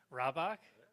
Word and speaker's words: Rabach: I'm very happy to have with me Nick Rabach. Yeah, that's how you say it, so don't forget it.